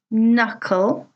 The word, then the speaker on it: knuckle: Well, hopefully you notice that each of these words has a letter which is silent.